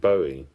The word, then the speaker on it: Bowie: his life and go for the the classic Bowie name or bowi as it's often mispronounced but I think he loves Bowie now